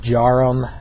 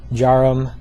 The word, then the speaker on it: Djarum: my favorite one the most well-known one is jarum that's spelled DJ a r u m jarum um they are manufactured in Indonesia I know